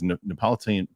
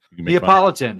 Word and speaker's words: Neapolitan: When I lived in New Jersey, there was Napolitan uh bulletin. I can't even say it right now. Help me, Mike. Neapolitan.